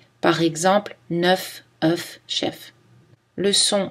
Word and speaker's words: œuf: Attention à la prononciation des mots œuf et bœuf qui changent au pluriel. Un œuf, un bœuf, on prononce le F, mais au pluriel, on ne le prononce plus. Des œufs, des bœufs.